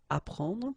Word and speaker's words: apprendre: The first one, ap, so ap, you will get apprendre, apprendre, okay, you don't pronounce the double p, apprendre, so here is what it means, okay, apprendre.